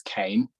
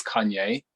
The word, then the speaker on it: Kayne: My name's Kane. It's often mispronounced as Kanye, and ironically, before Kanye West came out, I was never called Kanye ever before in my life.